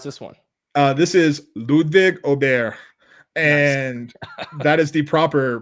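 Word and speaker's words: Åberg: This is Ludwig Aubert, and that is the proper pronunciation. Yep. Ludwig Aberg, if you want to be from people from my neck of the woods in the southern United States.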